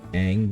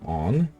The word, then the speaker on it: Aang: Like, Aang became Ong, because he has two A's in his name, and since he's supposed